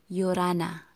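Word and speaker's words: 열하나: So you are going to say 요라나. Okay, 요라나. Okay, a little silent. This one, it's sound. Yorana, Yorana. Okay, Yol Hana. If you're going to read this one by syllable, Yol Hana.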